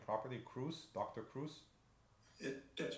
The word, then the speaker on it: Kruse: am I pronouncing your your last name properly Cruz Dr Cruz it gets pronounced lots of different ways awesome so um